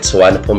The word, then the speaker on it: Suvarnabhumi: but it's not as how it is being pronounced the moment you're in Thailand, but we call it Suvarnabhumi International Airport.